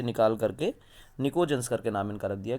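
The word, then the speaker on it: pnictogens: They are collectively called निकोजेंस। ठीक, ये कहते हैं, पी को साइलेंट रख लो, निकोजेंस कहते हैं।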